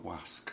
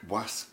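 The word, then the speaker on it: gwasg: the Davy sisters --kavitha WASC WASC is grass is the Welsh word for press we have to pronounce that G on the end otherwise you refer to the servant man service slave you have to say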